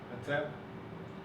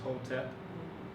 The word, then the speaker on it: Hotep: Hatep. Also based on Coptic, people will pronounce it as Hotep, right? Hatep, so this is a full articulation of it.